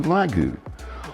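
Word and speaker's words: ragu: In Vietnam, the letter R is often pronounced as an L, so ragout to lagu.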